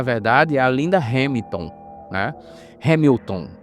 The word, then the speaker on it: Hamilton: a linda Hamilton né Hamilton na verdade é assim que se pronuncia né linda Hamilton ela